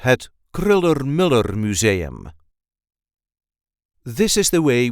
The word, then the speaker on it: Kröller-Müller: which technically is incorrect there is a light emphasis on the first syllable of the second word kriller Miller K Mur kriller Miller at kriller Miller Museum